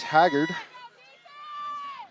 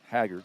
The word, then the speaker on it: Haggard: It was Maddox Haggard. Say it like that, Haggard, right? Haggard or Haggard, but I'm thinking it's probably like Merle Haggard.